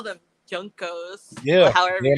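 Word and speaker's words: JNCO: Junko. I thought they were pronounced Jinko. I call them Junko. Junko. It was Jinko. Yeah, it's Jinko.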